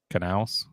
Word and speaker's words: Knaus: It's from 3 months ago, and it says Jamie Little, Kurt Busch, and Chad Knaus. Knaus. You pronounce the K.